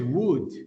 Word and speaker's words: would: La pronunciación de este verbo es would, ¿sí? Would, ¿sí? Algo como esto, would, ¿sí?